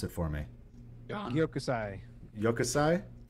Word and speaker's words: Gyokusai: One of you guys pronounce it for me. Gyokusai. Gyokusai? Gyokusai.